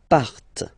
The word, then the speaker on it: partent: Il, elle, partent. Remember, classic ending, ENT, but then you don't pronounce them.